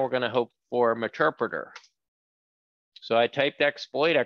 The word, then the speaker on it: Meterpreter: So it's pronounced Meterpreter / reverse.